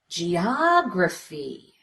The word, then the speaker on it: geography: Make it louder, longer, with an obvious change in pitch. Geography. Geography. Go up in pitch.